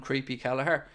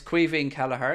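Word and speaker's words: Caoimhín Kelleher: be the Irish man so it's Quine kaher it's not creepy it's not anything it's Quine and just you know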